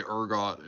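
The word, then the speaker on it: ergot: that it was definitely because of Argot. Or Argot. Orgot. Probably Argot is how you say it. We might say Argot in America and they might say Urgot in like the UK.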